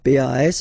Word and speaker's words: pas: Okay, we write it PAS, okay, but as usual, final S is not pronounced, so it's pas.